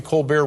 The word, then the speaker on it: Colbert: Are we still calling it the Colbert Report? Or yeah, we have not found the pronunciation of that T yet. We don't know where we left it.